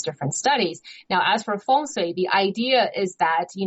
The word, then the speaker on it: feng shui: Am I pronouncing that correctly? Feng Shui? Feng Shui.